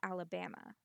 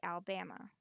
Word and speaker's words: Alabama: I say Alabama. I've heard people drop the second A and say Alabama.